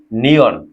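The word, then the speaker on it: 년: হয় আমরা দেখি যে সাল এটি হচ্ছে বাংলা উচ্চারণ এবং নিয়ন হচ্ছে কোরিয়ান উচ্চারণ তাহলে নিয়নটি কিভাবে লেখা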